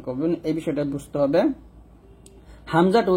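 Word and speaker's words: ء: তো হামজা, আইন এবং ইয়া, এই 3টা হরফ আপনারা কিভাবে উচ্চারণ করবেন এই বিষয়টা বুঝতে হবে। হামজাটা উচ্চারণ করতে হবে হলকের শুরু থেকে।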